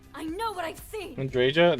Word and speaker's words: Andreja: Andreja? That's how you say her name? I thought it was Andrea.